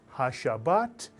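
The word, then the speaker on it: הַשַּׁבָּת: Just add ha in front of Shabbat and you'll have it. If you said ha-shabbat, mitsuyan, mitsuyan, ha-shabbat.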